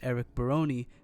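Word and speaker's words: Barone: Stardew Valley 1.7 has been confirmed by Concerned Ape, otherwise known as Eric Baron. And yes, that's how you say his name.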